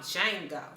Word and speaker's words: Django: today I'm here to talk about Jango the D is silent I actually love the